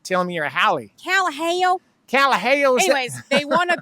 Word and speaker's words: Kalaheo: It's not Kalaheo, it's Kalaheo. I know.